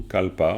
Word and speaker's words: kalpa: particulier, parce que kalpa, c'est un mot sanskrit, c'est-à-dire qu'en sanskrit, ça se dit kalpa.